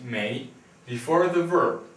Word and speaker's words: 没: You just add this character here, which is pronounced 没, before the verb 有, alright?